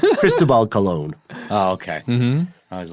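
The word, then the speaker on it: Cristóbal Colón: Did you say Cristobal Colombo? Cristobal Colon. Oh, okay. Mm-hmm. I was like, I am not aware of this pronunciation.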